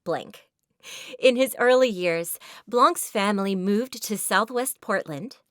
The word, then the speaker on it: Blanc: and sometimes Blanc and you noticed I am changing how I pronounce it this is intentional because he actually changed his original name from blank to Blanc why did he change